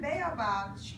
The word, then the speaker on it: baobab: It looks like it's pronounced Baobab.